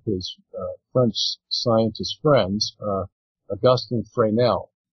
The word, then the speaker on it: Fresnel: And so he brought this issue to one of his French scientist friends, Augustin Fresnel. It's spelled Fresnel.